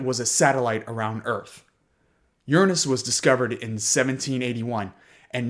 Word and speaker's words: Uranus: the ice giants of Uranus and Neptune. And yes, that is how you pronounce that planet.